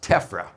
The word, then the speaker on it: TEFRA: It is an acronym pronounced TEFRA.